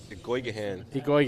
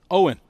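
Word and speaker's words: Eoghan: your brother eoan earlier Igan how do you say it Owen ex it is there's no G in Owen e o g h i a an is pronounced Owen don't ask it's Irish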